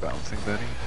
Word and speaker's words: bouncing Betty: It's pronounced bouncing Betty.